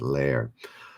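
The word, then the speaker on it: Lehrer: answer which was jim is it leer blue's great you're on reddit tonight yes you also got jim blair is it lair anyways l-e-h-r-e-r i think blue storm helped me with the pronunciation with lair what kind of animal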